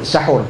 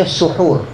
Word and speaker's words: suhur: Suhur ataupun sahur, sebenarnya dalam Arab ni ejaan yang betulnya suhur. Suhur ni perbuatan memakan makanan sahur. Sahur tu merujuk kepada makanan yang disediakan untuk bersuhur. Itu ejaan dalam bahasa Arab dia lah.